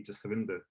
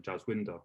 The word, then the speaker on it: Jaswinder: I never really whitewashed it, but the name to say it properly would be Jaswinder. If somebody can say it who's Punjabi, but someone who doesn't know my name might just say Jaswinder because that's how it's spelled. Now I'm always not sure because we've not really got like a W. It's meant to be like a Vava. See what I'm saying? There's no actual W we have.